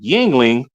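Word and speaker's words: Yuengling: I used to love PBR Blue Moon Yingling. That is how you pronounce that by the way.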